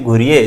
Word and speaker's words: घुर्ये: बच्चों हमने गोविंद सदाशिव घुरिये, जो कि भारत में समाजशास्त्र के जनक कहे जाते हैं, जीएस घुरिये या घुरे भी इनको कई बार कहा जाता है, तो अपना अपना उच्चारण है खैर इस विषय में,